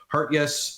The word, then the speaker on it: Hartjes: I believe it's actually properly pronounced Hartjes.